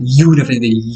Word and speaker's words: university: Karena pelafalannya pakai y ya, university, u. Nah, pakai seperti seakan-akan diawali dengan y gitu ya.